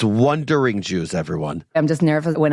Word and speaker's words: Wondering Jews: or wondering juw it's wondering Jews everyone I'm just nervous when I'm pronouncing it does it sound like I'm saying wondering ju or wondering juice no you're doing great it's wondering Jews at Jewish un .c